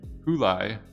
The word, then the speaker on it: Hulai: So this is their play on July, Houdini, Hulai.